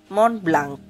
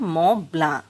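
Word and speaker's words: Mont Blanc: নিমেশ আহা কলম না যেন পরি করে পড়লে মন ব্লাঙ্ক মন ব্লাঙ্ক হয় কিন্তু চৌধুরী সাহেব চিফ ইঞ্জিনিয়ার যার নিমেশের মতই কলমের সব একদিন বলেছিলেন উচ্চারণটা ম্লা আলসের সবচেয়ে উঁচু চূড়ার নামে এই জার্মান কলমের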